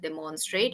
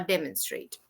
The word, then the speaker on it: demonstrate: So please don't pronounce it demonstrate or demonstration. It's demonstration or demonstrate. Mhm.